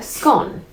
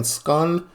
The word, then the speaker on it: scone: I think you say it like scone when you don't care. But if you're saying scun that like you trying to be like proper like you trying to